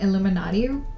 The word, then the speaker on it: Illuminati: And if you think that I'm just saying Illuminati like funny, it's because it's spelled I-L-L-U-M-I and then naughty.